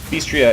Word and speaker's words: BStria: BStria is how you pronounce her name, alright guys?